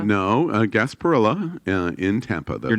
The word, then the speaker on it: Gasparilla: the gas berea pirate Bureau sarsaparilla it's not pronounced gas Padilla no Gasparilla in Tampa they're not I wrote you're not